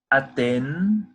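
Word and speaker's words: אתן: A seguir nós temos a palavra aten. Aten. Atenção para isso que a gente tem essa pronúncia de n. A língua ela sobe. N. Nun. Aten. A língua ela sobe no final.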